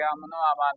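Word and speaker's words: अमन-ओ-अमान: देखो उर्दू में कैसे लिखा हुआ, अमन व आमान, उच्चारण कर लेना मिला करके, अमनो अमान तलफ्फुज कर लेना, अमनो अमान।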